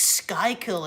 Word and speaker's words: Schuylkill: And I'm like, what's Schuylkill? It's Schuylkill. I'm like, you pronounced it Schuylkill.